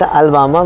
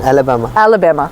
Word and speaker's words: Alabama: We called it Alabama, but okay, this is the actual pronunciation, Alabama.